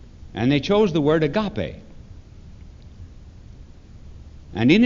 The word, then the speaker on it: agape: for the first two the third word is agape AGA pe sometimes pronounced agape AGA PE it was a word